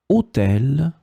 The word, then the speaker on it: hôtel: In this lesson, we will discover together two words that are written differently but pronounced the same way. Hôtel, hôtel.